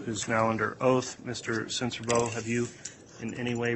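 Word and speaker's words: Sincerbeaux: spell your last name my name is censorbo and my last name is spelled s-i-n-c-e-r-b-e-a-u-x sir how are you employed um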